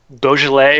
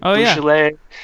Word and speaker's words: Beaujolais: A good summer wine is I know I'm gonna pronounce it wrong. It's Beaujolais or Beaujolais. Beaujolais, Yeah, it's like a red wine.